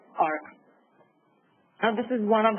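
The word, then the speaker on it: AHRQ: It is the 2017 National Healthcare Quality and Disparities Report by Agency for Healthcare Research and Quality, EHR, pronounced as ARC.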